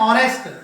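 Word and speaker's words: honest: यहाँ पर देखें एन ऑनेस्ट, यहाँ पर एच का प्रोनाउंसिएशन नहीं हो रहा है, एन और यहाँ पर एच का प्रोनाउंसिएशन नहीं हो रहा है, एन एयर, एन एयर, यहाँ पर एच का प्रोनाउंसिएशन नहीं हो रहा उच्चारण, इसलिए इसके आगे हम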